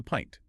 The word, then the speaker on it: pint: So let's look at the modern pronunciation. The unit of liquid measurement often used for beer is a pint.